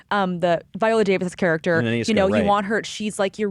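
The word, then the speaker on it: Nanisca: You're like, oh, you're rooting for Naniska, or I pronounced it correctly. Yeah, correct. The Viola Davis character. Naniska, you want her.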